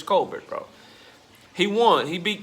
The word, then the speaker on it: Colbert: I've heard his last name pronounced a bunch of different ways, but Chris Colbert, bro. I'm gonna just say how it sounds from now on. Sound and how it's spelled. Chris Colbert, bro.